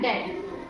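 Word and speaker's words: debt: देखो बी कब साइलेंट होता है, तो बी कब साइलेंट होगा इसका नियम देखो ये है, जब टी से पहले बी आता है तब बी का उच्चारण नहीं करते, यानी कि बी साइलेंट हो जाता है।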